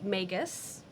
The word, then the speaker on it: magus: We met the magus. Rhymes with Vegas.